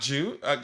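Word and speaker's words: Guiu: Mark Jew comes back. I was told to pronounce it that way as the third choice striker.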